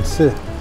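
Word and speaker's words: 瓷: The character for tsi. On the top, you have a character that is pronounced tsi.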